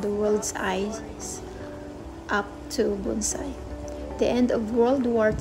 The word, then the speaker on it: bonsai: Asian ancestry ancestry to travel in space Bonsai pronounced Bonsai is a tree in a container as old